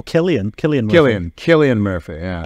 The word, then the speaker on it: Cillian: is a great question how do I pronounce his first name is it is it is it Killian Murphy or Cillian Murphy Oh Killian Killian Killian Killian Murphy